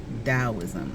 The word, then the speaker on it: Taoism: Okay, you may see Taoism spelled with a T, usually it is, but the pronunciation is Taoism.